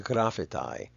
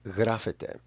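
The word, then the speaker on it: γράφεται: A lot of people, especially in Western countries, would say that the bottom one is pronounced grafetai. There's some argument there that's still going on. There's some disagreement about the pronunciation of the alpha iota. But in modern Greek, these are both pronounced grafete.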